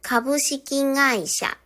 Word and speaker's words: 株式会社: 例えば株式会社、この会社の画もですね、え、美音のになって株式会社といったように発音します。